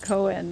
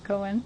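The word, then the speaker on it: 講演: Koen and Koen as in lecture have the same spelling, same pronunciation. Okay, we got you. Koen, lecture.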